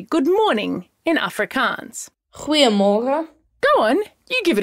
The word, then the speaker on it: Goeiemorgen: Goeiemorgen.